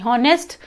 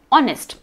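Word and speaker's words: honest: नेक्स्ट, ऑनेस्ट, इसको हम हॉनेस्ट pronounce करेंगे क्या? नहीं, हॉनेस्ट इनकरेक्ट प्रोनाउंसिएशन है, करेक्ट प्रोनाउंसिएशन है ऑनेस्ट।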